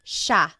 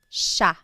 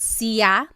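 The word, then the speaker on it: siya: It looks like it should be pronounced sa, but it's actually pronounced sha sha. There are some regions in the Philippines that might pronounce it sia, but for the most part in the central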